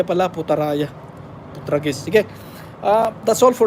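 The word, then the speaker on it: Putrajaya: Oh, mali yung bigkas ko. Kutaraya pala, Putaraya.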